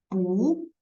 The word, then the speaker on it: 不: But if 不 with another character, which is also the fourth tone, the 不 will transfer to second tone.